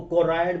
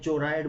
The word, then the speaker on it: choroid: अब इसको कोराइड बोलते हैं, चोराइड बोलते हैं, ये आपके ऊपर है, बट स्पेलिंग यही लिखना, CHOROID।